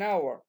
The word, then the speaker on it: hour: Y tenemos an hour, una hora. An hour. Vemos que es una palabra efectivamente que empieza por consonante. Pero ¿qué pasa? Que esta consonante, esta H, no se va a pronunciar.